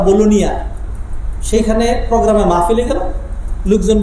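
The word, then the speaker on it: Bologna: একবার ইটালির বোলোনিয়া একটা সিটি আছে, বাংলাদেশের চট্টগ্রামের মতো বাণিজ্যিক নগরী, বোলোনিয়া, ইংলিশে লেখে বোলোগনা, উচ্চারণ করে তারা বোলোনিয়া।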